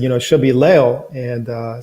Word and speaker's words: Leo: Yeah, I gotta pronounce it like the Spanish way. I gotta say Leo. Leo.